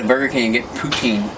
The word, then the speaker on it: poutine: Yeah, you go to Burger King and get poutine. Except I always pronounce it poontang, but, you know, that's... mispronunciation, I don't know how it's supposed to be pronounced, but, you know. Poutine.